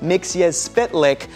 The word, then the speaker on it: Mxyzptlk: more like it oh my gosh and it's pronounced mix as spit lick thank you very much Superman the animated series